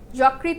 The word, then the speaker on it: যকৃত: দেখ অধর্নির পর যদি ঋকার হয় তাহলে অধ সংগৃত উচ্চারণ হয়। যেমন মসরিন যকৃত ইত্যাদি ইত্যাদি।